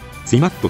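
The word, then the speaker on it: ツィマッド: 録の以降の作品でツィマッドと発音されるようになった企業です。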